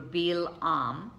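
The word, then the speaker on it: בלעם: They divide his name, it's actually pronounced in Hebrew, Balaam, and Baal means no or not, and Am means people.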